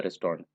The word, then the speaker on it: restaurant: the food of the restaurant. Once again pronounce restaurant in the American style, and in British it is called restaurant. It's three syllable restaurant, and Americans they have comprised into only two syllables, restaurant, restaurant, restaurant.